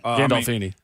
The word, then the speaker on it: Gandolfini: Gandolfini.